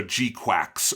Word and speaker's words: GQuuuuuuX: But if you look at the Japanese, where they have a katakana pronunciation above the title, which tells you how to pronounce it, it is GQuuuuuuX. So G-quacks or GQuuuuuuX, something like that.